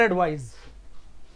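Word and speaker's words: advise: लेकिन अगर एस ए की बात करूं तो जो इसका प्रोनाउंसिएशन है एडवाइज, ज का मतलब जेड का, इसका स का मतलब एस का प्रोनाउंसिएशन होता है।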